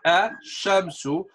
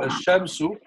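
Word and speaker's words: الشمس: For example, Al Shamsia, the one we don't say lam, is silent. Comes from Ash-Shamsu. We take this word from Ash-Shamsu.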